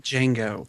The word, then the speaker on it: Django: Django. Thank you. D is silent. The D is silent.